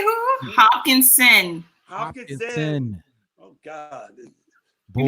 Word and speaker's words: Hopkinson: Hopkinson.